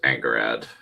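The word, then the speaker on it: Angharad: her past, and it's I pronounce it as Angerad. That's how I pronounced it, since that's how the character with identical spelling in the Prydain Chronicles is pronounced, at least by the audiobook reader, which so Well, anyway,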